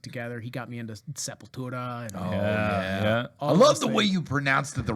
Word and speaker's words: Sepultura: incredible happy music together he got me into Sepultura yeah yeah I love the way you pronounce it yeah the correct way yeah the